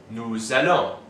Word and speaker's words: nous allons: These two begin with vowels, which means that the S of nous and vous will be pronounced. So for the first person plural we have nous allons, we go.